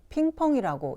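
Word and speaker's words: 乒乓: 우리나라 우편에는 없고 중국어에서 쓰는 글자인데 부딪히는 소리 핑, 부딪히는 소리 펑이라고 해서 핑펑이라고 읽습니다.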